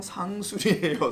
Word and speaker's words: 상수리: 발음을 강하게 하지 말아주세요. 쌍수리가 왜 쌍수리? 그건 쌍수를 든다 할 때 하는 거고, 쌍수리 나무가 아니고 그냥 상수리예요. 상수리.